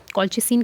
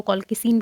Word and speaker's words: colchicine: कॉल्चिसिन कह लो, कॉल्किसिन कह लो, जो भी इसकी आपको प्रोनाउंसिएशन ठीक लगती है आप बोल सकते हो.